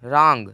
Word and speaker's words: wrong: RAP का निकला है, लेकिन डब्लू का कोई भी उच्चारण नहीं निकला। जैसे WRONG, रॉन्ग।